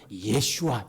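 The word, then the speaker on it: ישוע: 그런 생각이 들어요 자 예수님의 이름은 이렇습니다 예슈아 요게 히브리 말입니다 아들을 으리니 이름을 예수라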